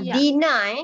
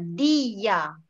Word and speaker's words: dia: Okay, this is not dina, not dina, dia.